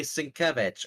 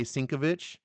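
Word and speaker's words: Sienkiewicz: If you mispronounce Sinkevich's name and I tell you and you Sinkevich. continue to say Sinkovich, okay, well I told you.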